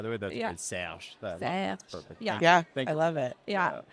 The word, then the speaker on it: Serge: I love the pronunciation of the R, by the way. That's Yeah. great. Serge.